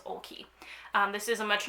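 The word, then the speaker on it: Oakley: up on the website how to say her last name her website i should clarify because there's a lot of vowels here it is olkey um this is a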